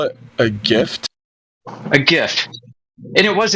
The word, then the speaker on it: GIF: Yeah, G like J IF. GIF. If you pronounce that like YIF, you might be a furry.